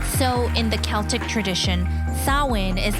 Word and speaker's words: Samhain: Samhain is the name Halloween in Irish, which has got an unusual spelling, Samhain. But it's pronounced Samhain.